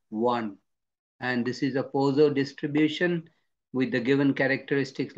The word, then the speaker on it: Poisson: It's not pronounced as poison, it is Poisson distribution.